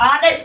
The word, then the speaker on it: honest: इसको क्या पढ़ते हैं हम, इसको पढ़ते हैं बेटा, यहाँ पास पढ़ते हैं ऑनेस्ट पढ़ते हैं इसको, इसका हम कहते हैं, ये जो आपका साइलेंट हो जाएगा, इसको क्या पढ़ते हैं, इसको हम पढ़ते हैं ऑनेस्ट, ठीक है ना, इसको ऑनेस्ट पढ़ते हैं।